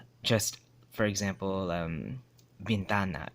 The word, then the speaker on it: ventana: Just for example, ventana. It's spelled the same way.